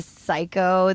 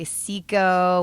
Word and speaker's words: Cyco: to you oh yeah just like they can't get the psycho they'll just say siko or kai ko or ki whatever they just can't pronounce